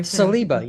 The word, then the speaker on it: Saliba: salba so Jim start how do I pronounce CBA did I CBA you have it perfect ah very nice so